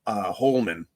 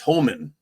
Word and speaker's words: Homan: I kept wanting to call him Holman with an L, but it's Homan.